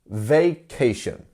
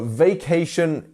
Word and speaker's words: vacation: So vacation is a holiday, and we have vacation. 3 syllables here. How would you pronounce that? Which one would you put the stress on? Vacation. Vacation. It's the second one, right?